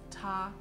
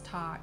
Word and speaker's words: 他: And please note, although the way to say he, she, or it is 他, in terms of writing he, she, and it in Chinese Mandarin is actually different. But the way you pronounce 他 is exactly the same.